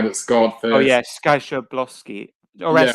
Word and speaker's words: Szoboszlai: Oh yeah, Skaboszlai. Or else, how do you say it? Skaboszlai. Szoboszlai.